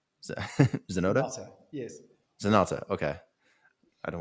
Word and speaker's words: Zenotta: um, but tell me what's on the horizon for 2021 with Zenotta, Zenotta, Zenotta, yes.